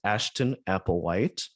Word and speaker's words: Ashton Applewhite: Rocks, a Manifesto Against Ageism by author, activist Ashton Applewhite. Did I pronounce all of that correctly?